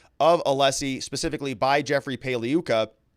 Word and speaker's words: Pagliuca: Maxwell's defense lawyer Jeffrey paliuka the g is silent like lasagna and uh mixed reactions